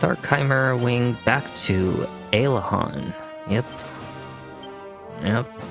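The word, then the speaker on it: Aliahan: We need to go with our Chimera Wing back to Alahhan. Yep. Yep. Elihan or I call it Ailahan. I never I've always pronounced it that way.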